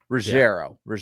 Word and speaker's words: Ruggiero: Like, but I believe, and forgive me if I butcher his name, Gio Ruggiero, I believe is how you say his name. Ruggiero.